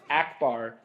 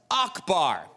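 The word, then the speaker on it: Ackbar: Akbar brand fly traps the name of the Mong calamari Admiral who fought for the Rebel Alliance at the Battle of Endor is abbar not Akbar as you pronounced it well I'm sorry Stephen but you are dead wrong the character's name is pronounced Akbar now maybe it was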